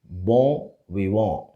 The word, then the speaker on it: bon vivant: So, it is bon, and the T at the end of VIVANT is silent. And the N before T should also be pronounced with the O sound. So, the word is bon vivant.